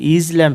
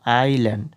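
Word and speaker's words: island: মানে কি দ্বীপ তো আই এস এটা কিন্তু ইজল্যান্ড হবে না আইল্যান্ড এই এস এর উচ্চারণটা কিন্তু উজ্জ্ব থাকবে তো আইল্যান্ড মানে কি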